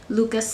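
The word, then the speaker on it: Lykke: did purchase a interchangeable lucas set i know it's spelled l y k k e but i looked at the norwegian pronunciation and i believe it's luca and it means make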